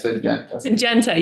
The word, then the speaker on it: Syngenta: I also didn't want to forget to respond to your comment too about like negotiations with Syngenta, or I'm sorry, how do you say that? Syngenta, yes.